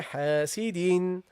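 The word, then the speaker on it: حاسدٍ: This noon is pronounced but not written. And to understand that there is another noon, what do? We double the haraka. Okay, this second kasra signifies this noon that I am pronouncing. Okay, so you say وَمِن شَرِّ حَاسِدٍ, حَاسِدٍ.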